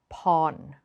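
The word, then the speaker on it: Porn: is an important one if you see an R following a vowel do not pronounce it it is lab not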